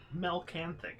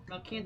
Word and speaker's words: Malcanthet: Malcanthet. Completely wrong. Melcanthic is what I put. That's what I heard. I can't hear. Milk and thick. Melcanthic. Malcanthet. That's how I would say it. Malcanthet.